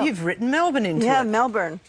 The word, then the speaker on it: Melbourne: written Melbourne in yeah Melbourne it rhymes with rain storm in a way uh-huh no so so